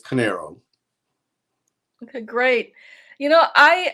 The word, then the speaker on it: Corneiro: incredible historical books welcome to the show conocero good morning corinne a pleasure to be with you i hope i pronounced your last name correctly canero and many people get talked but it's canero okay great you know i um a big